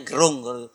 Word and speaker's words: Gerung: Bacanya Gerung.